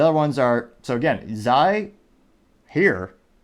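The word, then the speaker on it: hir: she, her, hers, herself, they, them, theirs, themselves, Zai.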